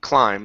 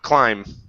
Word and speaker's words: climb: A steep climb. Steep climb. Steep climb. Yeah. Okay. Okay. Very nice. Yeah. Remember this B. The B in this word is silent. We do not pronounce it.